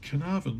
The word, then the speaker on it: Carnarvon: spelled carnavon it's pronounced carnavan like can I have an apple can I have a banana carnarvon so um he's not